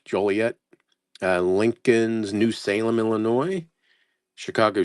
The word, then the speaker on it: Joliet: It's probably Joliet. I said Juliet, huh? Joliet.